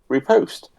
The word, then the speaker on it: riposte: I'm going to do a riposte. Oh, okay. And What's it called? Repost. If you pronounce the T, it is allowed.